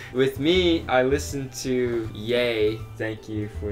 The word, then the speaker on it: Ye: Yay. Yay. Yay. Yay. So it's pronounced yay, as in Kanye.